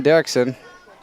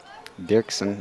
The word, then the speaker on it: Dirksen: So now it's up to Kevin Derksen. Dirksen, I should say. I should pronounce that properly.